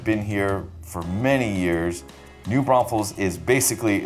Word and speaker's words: New Braunfels: own but it's actually a town it's called new braunfels not new bronze falls which is a common way to mispronounce it because i'm from new york and